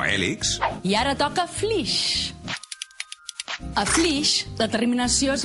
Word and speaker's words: Flix: No és que n'hàgim de dir així, és que es diu així, flix.